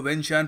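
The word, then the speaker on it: Vientiane: थी वेंच जी हां इसको वेन शन प्रोनाउंस करते हैं यह लाओस की कैपिटल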